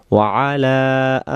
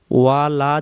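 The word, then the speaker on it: وَعَلَى: কামা সল্লাইতা আলা ইব্রাহিমা ওয়া আলা আলি। যত জায়গায় ওয়া আলা পাবো, তত জায়গায় খেয়াল রাখবো ওয়ালা যেন না হয়।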